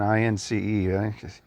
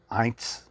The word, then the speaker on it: Ince: They keep saying I-N-C-E.